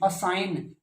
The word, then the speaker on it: assign: असाइन, duty असाइन करते हैं आपको, ASSIGN, असाइन, जी साउंड बोलते नहीं, गै साउंड।